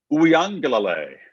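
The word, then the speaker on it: Uiagalelei: now that trevor is out how do you pronounce dj's last name uyangalalay he got in the game and we did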